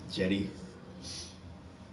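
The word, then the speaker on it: Cedi: It's spelled C-E-D-Y. I mean C-E-D-I, but pronounced like it's a J. That's pretty cool. Jetty.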